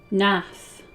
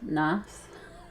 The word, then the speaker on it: Gnath: Nath. Oh right, sorry. Were I of the Gnath? Nath.